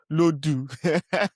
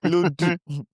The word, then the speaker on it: Lodu: Let me pronounce the name like a proper Yoruba word. Which one is Lodu? Lodu. Lord do. Lodu.